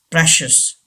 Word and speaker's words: precious: clearance number five precious precious yes don't say precious getting as english learners should know correct pronunciation okay pressures pressures this ci gives the sound sure precious number six delicious